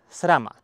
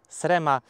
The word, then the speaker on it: SRAM: Ja będę mówił SRAM AXS. Tak jak jest w Polsce napisane, tak ja będę to czytał. Nie SREM AXS, tylko SRAM AXS.